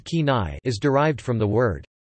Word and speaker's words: Kenai: The name Kenai, pronounced Kenai, is derived from the word Kenaiets, or Kenaiets